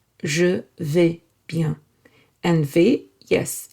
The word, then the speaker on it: bien: Bien, well, it's one word. À bientôt. Bien is nasal. It is pronounced from the nose.